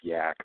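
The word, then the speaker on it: Yaak: This is spelled Y-double-A-K, not exactly like the Himalayan type yak, but yeah, Y-A-A-K. Yeah, we call it the Yak.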